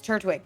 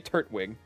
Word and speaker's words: Turtwig: So, he'd say turtwig. But like I just try not to over pronounce the T. I just feel like it It's It's turtwig.